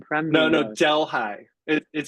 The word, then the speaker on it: Delhi: Delhigh New York. Delhigh. One of the great American mispronunciations of another cultures words.